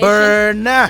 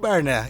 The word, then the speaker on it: Barna: Is that the right pronunciation? BARNA. Like yes. BARNA. BARNA. BARNA. Not just burner.